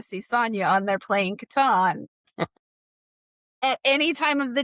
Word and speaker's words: Catan: And last year they celebrated Catan's 30th anniversary, where I learned that it's Catan, not Catan, because it's how Klaus pronounced it.